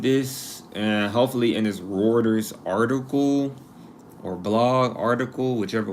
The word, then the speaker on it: Reuters: off when I said routers I'm pretty sure like Reuters Reuters oh Reuters okay